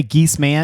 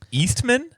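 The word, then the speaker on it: Geeseman: Do you ever pronounce it that way, Geese Man? Yeah, like especially on phone calls. Oh yeah. They're always like Eastman. Like, no, Geese Man.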